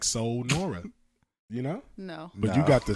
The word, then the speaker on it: Sanura: was spelled like that so just like soul Nora you know you got